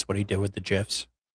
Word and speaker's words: GIF: It was very sus what he did with the gifs. Can you stop saying gifs? Um, I don't think you can stop saying Jif. That's how you say it, right? Like Jify Pop.